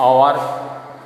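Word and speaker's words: hour: इसको हावर नहीं बोलते हैं, आवर ही इसका प्रोनाउंसिएशन किया जाता है।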